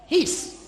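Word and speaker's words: εἷς: c'est le nom His. No, his. It is spelled H-E-I-S.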